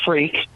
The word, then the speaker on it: Freke: Freke. Yeah, I did pronounce that right, correct?